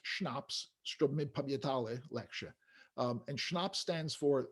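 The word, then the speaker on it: CHNOPS: It's pronounced schnapps, lecture.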